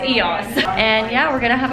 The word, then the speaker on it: eos: And the event is for EOS, and I always used to say EOS, but I just watched a commercial and it said EOS, and I was like, oh my god, I've been saying it wrong the whole time. Yeah, and but I know now, so it's EOS.